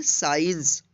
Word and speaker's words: science: यानी किसी वर्ड्स में सी रहेगा लेकिन इसका उच्चारण नहीं होगा। तो चलिए यहाँ पे देखते हैं। SCIENCE, इसको पढ़ेंगे साइंस।